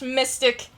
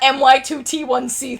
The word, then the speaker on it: My2t1c: Nameless loser, it's pronounced Mystic. It is not MY2T1C, thank you.